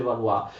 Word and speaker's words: Valois: nuova dinastia di Valois, si scrive Valois ma si legge Valois.